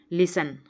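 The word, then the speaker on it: listen: sound नहीं आएगी कॉम लिसन यहां पर टी साइलेंट है अगला सेवन का राइट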